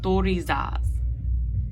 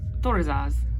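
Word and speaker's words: Thurisaz: And our last one of our 3 card is Torizaz. So Torizaz, or Tor-i-zaz.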